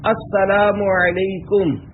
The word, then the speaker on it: السلام علیکم: لے۔ 11، سلام اور جواب سلام کا درست تلفظ یاد فرما لیجئے۔ پہلے میں کہتا ہوں، آپ سن کر دہرائیے۔ السلام علیکم۔ اب پہلے میں جواب سناتا ہوں، پھر آپ